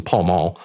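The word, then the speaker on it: Pall Mall: have a pel Mel he pronounced it pel Mel for some reason Paul mul in his hand with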